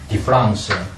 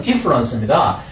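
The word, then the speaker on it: différance: 제가 디프랑스를 했지만 사실 발음은 디프런스입니다. D-I-F-F-E-R-A-N-C-E를 D-I-F-F-E-R-E-N-C-E와 구별하기 위함이죠. 영어에서 A-N-C-E나 E-N-C-E는 발음이 음가가 이래서 구별이 없어요. 그런데 제가 읽을 때 ANCE는 일부러 이 강의에서는 디프랑스라 이렇게 읽는 것입니다. 사실은 디프런스 일반적 차이와 같은 발음이에요.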